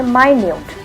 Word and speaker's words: minute: the same vote written again but it is pronounced differently you say my newt here minute refers to an object that is